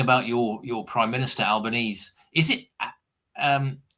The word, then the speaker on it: Albanese: your your prime minister, Albanese, is it um how do you pronounce is it Albanese or Albanesei? This is what Alban Albanesei. It's Italian.